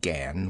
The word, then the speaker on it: gan: She pronounced it gan, with only a suspicion of a nasal sound.